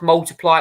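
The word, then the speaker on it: ×: his um album X um which was actually pronounced multiply it was released in 2014 uh one album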